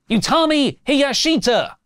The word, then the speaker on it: Utami Hayashishita: Now, SP3 has texted me phonetically how to say this. Utami Hiyashita!